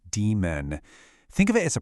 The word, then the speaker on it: daemon: And by the way, it's pronounced demon.